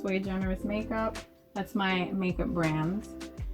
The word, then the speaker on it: sui generis: Yeah, it's sui generis. It's actually Latin, for one of a kind. Latin for one of a kind. Yeah, so it's sui generis makeup.